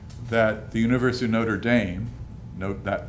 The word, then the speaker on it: Notre Dame: I'm proud to say that the University of Notre Dame note that pronunciation uh invited and had the Two Chief